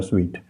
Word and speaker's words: suite: अच्छा जी, ये ब्रिटिश और अमेरिकन में फ़र्क है, स्पेलिंग दोनों के एक जैसे हैं, पढ़ने में दोनों में फ़र्क है। सूट भी कहते हैं लोग और स्वीट भी कहते हैं, SUITE।